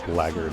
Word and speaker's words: blackguard: It's kind of fun how blackguard is only pronounced that way, as they're like in that word.